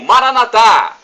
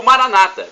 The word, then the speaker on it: Maranatha: aramaico dialeto de Jesus eu clamo Maranatha como dizemos nosso católicos ou Maranata como dizem nossos irmãos separados os protestantes ou evangélicos não importa a pronúncia